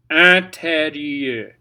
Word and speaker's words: intérieur: IN is an. here's how you pronounce it. This is one of my favorite vowels. I really like this vowel. It's and then you're going to put it in your nose.